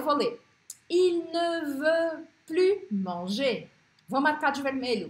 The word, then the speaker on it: plus: Nous en avons plus que significa mais que, pronuncio o S.